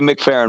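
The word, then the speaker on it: McFerrin: a simple statement it's Bobby mcaren too I said it wrong yeah that's it that's why when you said Bobby faren it didn't hit me right away because it's Bobby mcfarren right that that we got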